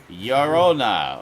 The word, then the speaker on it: Llorona: okay, so Two L's in Spanish is pronounced like a Y. Llorona. Okay, La Llorona.